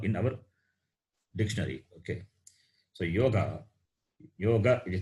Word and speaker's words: yoga: So yoga, it is not yoha also. Yoga, it should be pronounced properly.